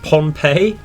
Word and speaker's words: Pohnpei: We've sighted quite the large invasion task force towards, I believe it's pronounced Pohnpei.